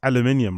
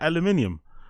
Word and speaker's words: aluminium: It's like when people say, it's like when Americans pronounce aluminium, right? Aluminum, right? You guys pronounce it aluminum. It's like, what the fuck is aluminum? Isn't it aluminium?